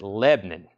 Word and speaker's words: Lebanon: stores here located in Lebanon but we pronounce it Lebanon which is a one syllable we don't like syllables Lebanon one syllable I can say it fast enough to make it one syllable I got three words